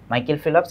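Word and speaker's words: Michael Phelps: তালিকাটা অনেক বেশি বড় বড়সরই এরপরে coyote big মাইকেল ফেলপস মাইকেল ফেলপস যদিও এল এর পরে ও নাই কিন্তু উচ্চারণ করতে হবে মাইকেল ফিলপস এন্ড উসাইন বোর্ড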